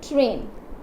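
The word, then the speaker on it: train: Like जैसे कि समझ लीजिए, यहाँ पे मैं बोलती हूँ ट्रेन, ट्रेन, तो यहाँ पे क्या आ रहा है, देखिए ए प्रोनाउंस हो रहा है, ना कि आपका आई आ रहा है, तो आई इज साइलेंट, ओके।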